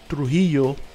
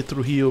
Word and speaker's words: Trujillo: The one fight, Marcus Lavesier versus Abel Trujillo, which I say Trujillo because, you know, I'm Spanish, so, but it's Trujillo. Americans say it, whatever. I'll say how I say it.